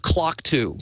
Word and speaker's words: QLOCKTWO: on the iPhone, is something called the Clock 2, which is spelled funny. It's QLOCKTWO.